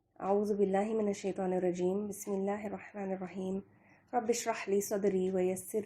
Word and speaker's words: بسم اللہ الرحمن الرحیم: رحم فرمانے والا ہے۔ تلفظ، بسم اللہ کو پڑھنے کا صحیح طریقہ یہ ہے، بسم اللہ الرحمن الرحیم۔ اب تھوڑی سی تفسیر